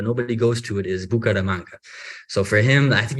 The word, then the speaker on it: Bucaramanga: So you're from Bucaramanga. Did I say it right? I say it right. Okay, I don't know. They always say that. Oh, you say it wrong. Okay, so you're from Bucaramanga.